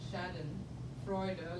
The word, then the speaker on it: Schadenfreude: Yes, SCHADEN, Schadenfreude, like Freud, Sigmund Freud, with an E at the end.